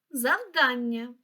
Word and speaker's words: завдання: в абетковій послідовності тож перше слово завдання наголос на другий склад завдання наступне слово запитання